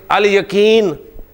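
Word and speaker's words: اليقين: अल यतीम ठीक है या से अल यकीन लाम प्रोनाउंस हो रहा है ठीक है ना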